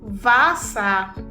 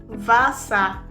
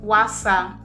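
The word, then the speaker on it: Wasser: W in German is pronounced as V. It has V sound. V sound. So it is pronounced as v. Vure vasa. Vure vasa. It is not pronounced as wasa.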